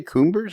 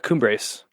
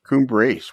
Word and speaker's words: Cumbres: It was what did you say, Cumbers? Am I saying it wrong? The Cumbres. Cumbres.